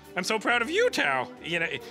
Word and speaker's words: Thao: It's the name that her grandmother gave her, Tao. Oh. So it helps if you take out the H when you say it, but don't forget to put it back in when you spell it.